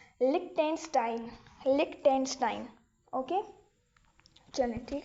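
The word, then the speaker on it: Liechtenstein: सो इसको प्रोनाउंस करते हैं। लिक टेंस्टाइन लिक टेंस्टाइन ओके चल ठीक है तो ये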